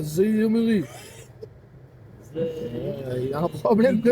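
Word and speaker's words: Zaïre-Emery: c'est Zahir Emery, pas Zahir Emery.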